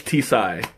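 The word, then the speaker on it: τσάι: T okay great so it's tea sigh because I mean in that kind of situation it looks like a silent T but I mean if you're gonna call it T side might as well call it tea for sure right ah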